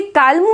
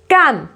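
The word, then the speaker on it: calm: अब इसको भी क्या बोलेंगे, काल्म बोलेंगे, नो, इसको बोलेंगे कैम, कैम।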